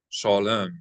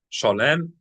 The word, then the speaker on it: shalom: Well, uh, the pronunciation of the last word, shalom, is how shalom. Everyone says it. Shalom. But, uh, shalom. Zoom for you. So, the emphasis is is slightly slid over, isn't it?